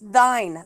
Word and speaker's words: thine: __ ] man it's it's pronounced thine thine own self be true Oh thine I've never